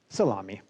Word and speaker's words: SALAMI: algorithms and machine inferences a wonderful new acronym that is of course pronounced salami so this is the